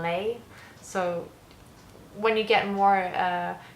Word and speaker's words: les: Like that's not, we'd say les, and in French we got the sound lay.